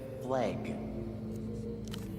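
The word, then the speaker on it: FLEG: And they didn't take the easy win with F L EG. They actively pronounced it flag.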